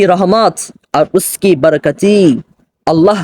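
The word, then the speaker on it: رحمت: আওর আল্লাহ কি রহমত রহমত অনেকে ভুল করেন উচ্চারণের ক্ষেত্রে রহমত বলে আসলে রহমত না উচ্চারণ হবে রহমত আর উসকি বরকাতি এবং তার বরকত আল্লাহর রহমত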